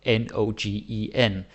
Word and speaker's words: nogle: The next problem is that Danish people misspell it as nogen, N-O-G-E-N, but that's another word, right? So yeah, that's not so good for spelling, but pronunciation-wise, we just say nogen.